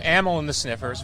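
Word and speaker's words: Amyl and the Sniffers: I'm saying it wrong is it animal in the sniffers or ammo in this ammo in America United States so ammo and the sniffers very looking forward to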